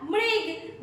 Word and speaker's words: मृग: लोग कैसे उच्चारण करेंगे म कैसे उच्चारण करेंगे मृ म में ऋ की मात्रा मृ और फिर हमने लिखा ग ये क्या हो गया मृग मृग मतलब होता है